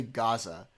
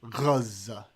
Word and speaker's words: Gaza: Okay, so one thing the far lefties who are super pro-Palestinian do is they don't say Gaza. They say Gaza because they try to say it like the Arabs.